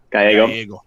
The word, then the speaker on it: Gallego: But talking about how, while kudos to Gallego, is that how you pronounce it? Because I said it wrong last time. Gallego.